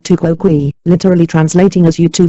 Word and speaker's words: tu quoque: You answered criticism with criticism, pronounced tu quoque, literally translating as you too.